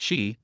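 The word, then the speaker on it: 佘: "Boss, this word is pronounced Shi, not you."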